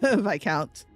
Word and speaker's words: Viscount: Yeah, you don't pronounce the S in Viscount. So, I mean... I think there's only like 3? Viscount.